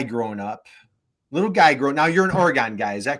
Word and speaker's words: Oregon: When you're a little guy growing up, now you're an Oregon guy. Is that correct? An Oregon guy, but Oregon.